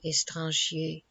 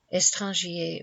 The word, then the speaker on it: étranger: Étranger was probably pronounced as of 2 syllables only, but it is difficult to make this line scan.